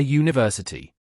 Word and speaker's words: university: Now, here's a common tricky one, a university. Even though a university starts with the vowel letter U, the sound it makes is EO, which is a consonant sound, just like yacht.